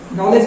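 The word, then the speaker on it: knowledge: जैसे नॉलेज का स्पेलिंग क्या है? तो के कहां चला गया?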